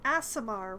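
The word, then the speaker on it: Aasimar: Uh, she is a race referred to as an Asimar, which uh, a bitly by pronunciation does sound pretty bad, but is spelled with a double A, not a double S.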